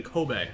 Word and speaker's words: Kobe: new Japan destruction in Ko Bay which is spelled like Kobe Bryant yeah and it was